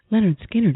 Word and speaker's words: Lynyrd Skynyrd: Medlock of the Bands Leonard skinnard and Blackfoot Leonard skinnard is out with a new album pronounced Leonard skinnard and second helping livee